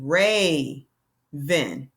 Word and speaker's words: raven: raven, you have the you have that A, that goes A. Why? Because there's no consonant at the end. The syllable stops right there. Raven, Raven. This is the first syllable, ray. The second syllable is van.